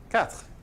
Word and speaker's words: quatre: Quatre. Yeah. And you just kind of do the TR at the end of it. You don't actually say this little vowel.